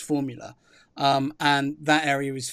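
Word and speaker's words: Fuvahmulah: an island with a long name that is pronounced Formula.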